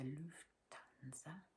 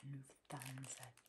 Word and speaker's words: Lufthansa: Eye mask, and here you see the Lufthansa bird. Sometimes you'll hear somebody pronounce it Lufthansa because of the TH, but it's Lufthansa, Lufthansa.